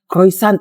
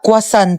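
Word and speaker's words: croissant: Croyant daw. Croyant. Ah quasant po.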